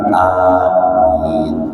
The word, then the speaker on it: amin: Jadi mengucapkan lafal ucapan amin itu dengan memanjangkan huruf A yang pertama dan min yang terakhir. Jadi amin bukan amin tapi amin gitu ya.